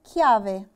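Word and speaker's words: chiave: عندي كلمة كيافي. كيافي احنا اتفقنا ان معناها مفتاح. لما انطق الحرف ك هتبقى تشي دورا ولا دولتشي؟ تشي دورا.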